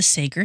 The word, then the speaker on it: Sager: We are going to talk about the Sager family. Sager. C A G E R. Sager. Sager. Mhm. Seager.